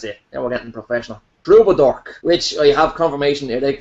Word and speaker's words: Troubadork: Troubadork, which I have confirmation it is Troubadork. The K isn't silent. No funny business. Is the T not silent? I would have thought the T was silent. No, there's no silent letters and no invisible letters.